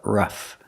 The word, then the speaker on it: rough: words rough and roughly first pronunciation use the short H sound like cup and up r- R Ruff the GH makes the F sound like flowers FF Ruff and roughly it's rough